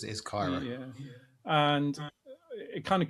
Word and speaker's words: CAIRA: And then if you look at CAIRA, I think that's how you say it. We had this conversation. Yeah, that's how it's been pronounced in the calls that I've been on is CAIRA.